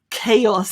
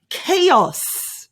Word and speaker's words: chaos: i suppose unorganization now when everything's gone crazy chaos the pronunciation is k k os k os chaos perfect chaos well done i'm really proud of